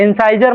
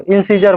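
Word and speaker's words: incisor: इंसाइजर मत बोलो, इंसीजर बोलो।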